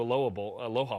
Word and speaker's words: Aloha: Plus, there's some, revenge factor there from the 92 Aloha Bowl. Excuse me. I pronounce it like the city in Oregon.